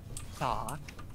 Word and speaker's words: Thok: And there's also, if you don't mind, this Bungle character that his name starts with a TH and an OK, so it's Thok.